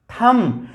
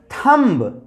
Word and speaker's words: thumb: हो जाएगा कॉम, THUMB, थम, नोट थम्ब, थम, THUMB, थम, नोट बी का प्रोनाउंसिएशन हमें नहीं करना है, थम, नोट थम्ब गाइस।